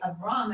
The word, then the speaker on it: Abram: good reason yeah because if I had seen the Hebrew first right I would know to say abam and I said Abram because that's what I'm reading exactly if your goal is to pronounce the the names as they are rendered in the Hebrew the English is not your friend when you said AB